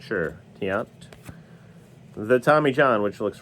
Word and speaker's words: Tiant: do the Jim Bey Lou tant Tiant it's pronounced in case you're not sure Tiant the Tommy John which looks remarkably similar to